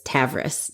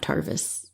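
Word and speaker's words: Tavris: It's Taveris, not Tarvis.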